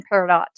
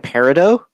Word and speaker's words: peridot: Yes, dear, you do pronounce the T in peridot. Justin, have you been saying peridot?